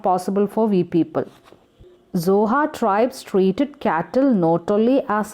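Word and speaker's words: Xhosa: where mandela belongs children the pronunciation is too tough and even impossible for us to speak it only native speakers of africa can speak the word zohar that the clique sound will come in the beginning that is not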